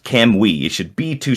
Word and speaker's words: Kamui: um and it's pronounced can we should be be two syllables and you kind of unconsciously say the U but it's not kamui it's kamui like put the emphasis on the cam it's we should have